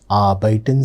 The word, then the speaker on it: arbeiten: Arbeiten Sie? When I am saying arbeiten, observe, the R letter is very faintly pronounced.